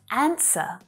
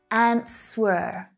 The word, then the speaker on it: answer: Another really common verb is answer, answer. Now, notice that that W is silent, right? It's not answer.